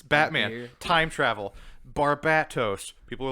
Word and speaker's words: Barbatos: it's batman time travel barbatos people are like it's pronounced barbados there's a t in it barbados is spelled with